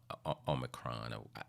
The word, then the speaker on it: Omicron: Yes, I know it's pronounced Omicron.